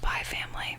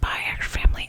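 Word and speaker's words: Spy × Family: baby spy family which it's actually pronounced by family i don't know why people are like it's pronounced by our family it doesn't matter master spy twilight is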